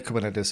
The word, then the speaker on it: Kubernetes: write kubernetes as k8s we will still speak about kubernetes or not k-8s says whatever you would pronounce it just say kubernetes and write it like